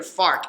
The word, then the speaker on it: FARC: You got to be careful with how you say it there. FARC.